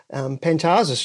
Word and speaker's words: Pantazis: sort of stuff, and Pantazis, yeah, that's the Greek pronunciation, the Australian pronunciation. It's actually in Greek you would say Pantazis, So so the accent changes, the emphasis totally on the emphasis. The emphasis on the different syllable, right?